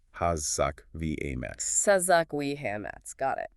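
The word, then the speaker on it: חזק ואמץ: In the Hebrew text, that phrase is kazak we emetz, pronounced Hazak v. Ametz.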